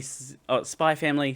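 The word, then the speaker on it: Spy × Family: Mhon from Spyex Family Spy Family season 2. Fun fact, you actually are not supposed to pronounce the X in titles that are like spy X family.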